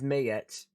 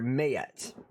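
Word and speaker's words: Maat: We got gods like Mayet, which is, let me see if I can show you how it's spelt, but it's pronounced Mayet. Right there, Mayet.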